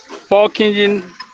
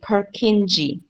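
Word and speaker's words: Purkinje: Pork engine fibers cause the vertical to contract.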